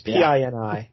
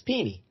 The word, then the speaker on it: Pini: It's Pini. There's a lot of ways that could go, but it's Pini.